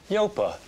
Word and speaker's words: Yopa: see you tomorrow thanks yopa how do you spell that no stop it it's not yopa it's yopa local agents low fee